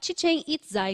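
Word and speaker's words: Chichén Itzá: tien it tien Itá a pronúncia correta Ok pronuncia tien itza Então esse Observatório ele faz parte de uma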